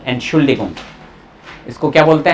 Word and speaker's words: Entschuldigung: सबसे पहले एंट का साउंड आया, एंट शूल डी गुंग, मैंने लिख दी डिगुंग, डिगुंग, ठीक है, ये